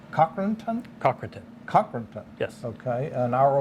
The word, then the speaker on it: Cochranton: In the area of, is it pronounced Cochranton? Cochranton.